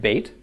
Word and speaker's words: Beit: right in ancient Hebrew Beit looks something like this it depicts a tent or a house and the hebrew word by it which you'll find sometimes pronounced bate means a house Beit